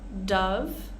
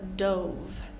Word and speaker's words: dove: this next word um we can pronounce this two different ways depending on how we're using it we have Dove as in the bird or Dove as in the past tense of dive confusing right so Dove